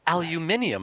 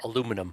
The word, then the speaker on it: aluminum: Aluminium is like the the British UK version of I know. I hate it. I swear you added three extra syllables that didn't need to be there.